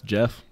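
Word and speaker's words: Geoff: least the second one that's Jeff so I know that one's how to pronounce that the second name Jeff Johns huh Jeff with a G Kurt couldn't tell you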